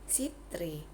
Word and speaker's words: citri: Bile terus ada juga huruf c Hai itu dibaca sebagai es jika diikuti huruf e contoh Cera membacanya Sera citri membacanya sitri dan seterusnya Hai ada